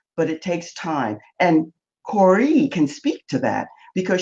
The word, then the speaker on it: Kore: I was saying Core. It's Corey.